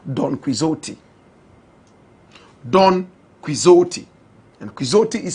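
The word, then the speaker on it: Quixote: And Quizotti is spelled qui X O T E.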